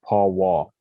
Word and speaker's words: powwow: for the leader of ceremonies and the correct pronunciation is paul wall and so that's where um the word pow-wow